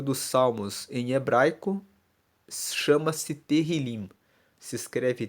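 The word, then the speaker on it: Tehilim: 150 o livro dos Salmos em hebraico chama-se terril se escreve t e h i l i m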